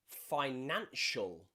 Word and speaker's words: financial: This can also be a way that we pronounce the letter C. Think about words like ocean, ocean, or financial, or precious, Special.